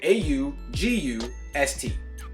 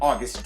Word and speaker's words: Agust: now that is spelled au gu st okay this is spelled AG u st there is no u after the egg however I'm still going to pronounce it August like the month because I like the